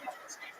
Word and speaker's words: Chmielnicki: his name in literature spelled with a CH, as a Polish spelling, pronounced Chmielnicki.